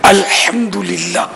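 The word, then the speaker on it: الحمد لله: الحمدللہ یہ بھی تلفظ درست کرنا ہے، الحمدللہ.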